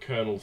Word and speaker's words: colonel: As a side note, it really bothers me how the word colonel's spelled. It shouldn't be spelled like that. Anyway, C-O-L-O, like colonel, is really what it is.